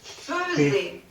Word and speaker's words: faisait: Alors, en français, on écrit faisait, mais on le prononce faisait.